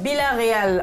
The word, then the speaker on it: Villarreal: J'ai explosé à Villarreal. Villarreal en espagnol, si je veux prononcer. Non, Villarreal. Allô? On va garder la prononciation française.